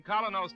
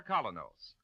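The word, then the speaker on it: Kolynos: Ladies and gentlemen, Colinos Toothpaste presents Mr.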